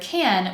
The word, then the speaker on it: can: The first is that in the word can, we cut the vowel sound and we'll hear the word end in n.